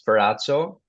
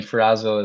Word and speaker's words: Ferrazzo: Well, if you want the proper Italian pronunciation, it's Ferrazzo, but Okay. I mean, Ferrazzo is what people would, I guess, come to pronounce it as.